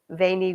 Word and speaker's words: veni: Julius Caesar famously said, Wady, Waney, weedy, wiki, or veni, vidi, vici. Sometimes if people use ecclesiastical pronunciation.